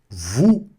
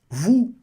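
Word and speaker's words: vous: Vu. Vu. Não pronuncia esse s, hein?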